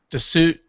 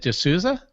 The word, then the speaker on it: D'Souza: Dinesh D'Souza, how do you say it? D'Souza?